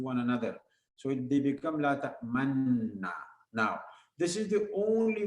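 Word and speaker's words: لا تأمنّا: La ta'man na. After ta'man, round up your lips a little bit.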